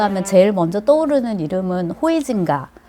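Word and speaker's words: Huizinga: 이 네덜란드 사람 하면, 우리가 이제 네덜란드 학자 하면 제일 먼저 떠오르는 이름은 호이징가. 옛날 발음으로 호이징가고 요즘은 하위징아 이렇게 이제 표현을 하던데요.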